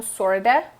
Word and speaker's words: sort of: Ele se junta como sorta, assim como kinda.